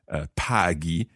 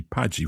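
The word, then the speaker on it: paghi: be with h so the h is keeping the g hard there too pagi p p-a-g-h-i otherwise it would be patchy which doesn't relax in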